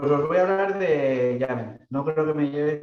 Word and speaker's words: YAML: Y se pronuncia YAML, como en camel, para saberlo.